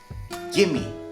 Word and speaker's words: gimme: So you take off the VE from the give and you join them together and they become gimme, gimme.